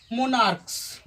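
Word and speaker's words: monarchs: ई एस लगता है, लेकिन जब सी एच का उच्चारण को होता है तो इसके अंत में हम ई एस नहीं लगाते हैं बल्कि एस लगाते हैं। तो इसका प्लूरल फॉर्मेशन हो जाएगा मोनार्क्स, मोनार्क्स।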